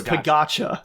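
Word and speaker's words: Pogačar: it's Pagacha. Yeah, That's how it's pronounced.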